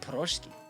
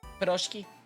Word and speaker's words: piroshki: Eat Proshki. Is that the pronunciation? Piroshki.